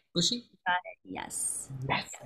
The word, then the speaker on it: Bucci: Bucci?